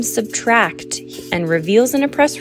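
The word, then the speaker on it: −: Ed Sheeran announces the release of his new album '-' (pronounced Subtract) and reveals in a press release that a lot of pain and hope were the inspiration for the album.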